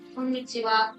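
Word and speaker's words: こんにちは: You may have learned that this means ha But in these expressions, konnichiwa and konbanwa, we use this wa here, like this.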